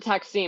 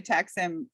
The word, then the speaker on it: Taksim: Is it Taksim or is it Taksim? Because I don't want to say it wrong. Well, Americans say Taksim. Taksim is like the proper way.